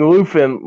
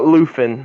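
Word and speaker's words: Luthen: you pronounce it uh luffin luffin yeah it's yeah it sounds like there's an F in there but it's a th luffin yeah but yeah he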